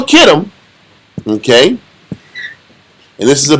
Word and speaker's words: Kittim: So Kittim is sometimes spelled with a K or a CH. It's still Kittim, okay?